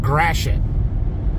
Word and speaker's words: Gratiot: right there you see that word yeah that's pronounced Gratiot that's that's why it's because we have weird spelled words like that here in Michigan for real Gratiot Avenue all loaded up that was easy